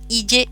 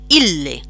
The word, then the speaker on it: ille: En latín esto se pronuncia la doble L como si fueran, voy a poner aquí un ejemplo, como si bisílaba, es decir, la primera sílaba sería il y la segunda le, ille.